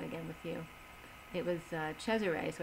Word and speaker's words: Cesare: the way it's spelled I don't like the Americanized version of it but it's pronounced Cesare and I like that